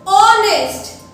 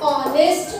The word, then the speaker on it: honest: All such words, they have H in their spelling, but the sound of H is silent.